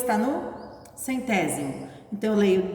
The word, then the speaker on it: centésimo: Lembrando que a palavra décimo se escreve com C, centésimo e milésimo é com S, que faz o som de Z, né? Mas é S.